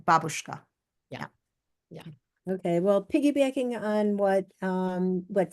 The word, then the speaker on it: babushka: When we say babushka, we just mean the scarf, but the real pronunciation in Russian is babushka. And if you said babushka, I don't even know if they'd know what you're talking about because they Yeah.